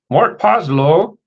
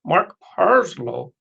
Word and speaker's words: Mark Parslow: Mark Poslow, I said it wrong. Mark Parslow.